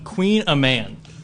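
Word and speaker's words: Kouign-amann: what I learned because how do we pronounce this again? Queen a man. Which is spelled Kouign AMANN, and I believe this is a Celtic pastry.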